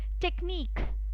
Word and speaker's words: technique: Alright, and again I would like to show you where Q, U, E they come together, again it is pronounced as k. For example, it's unique, then it's technique.